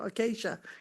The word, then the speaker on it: Acacia: Acacia, is that how you say it? There you go, Acacia.